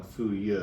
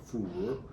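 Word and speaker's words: 腐乳: Was fermented tofu, or what I grew up calling fu ye, which I think is the more Cantonese-ish pronunciation, or fu ru, more Mandarin.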